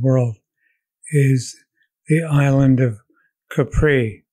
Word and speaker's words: Capri: is the island of Capri Capri is the proper pronunciation Italian it's an island off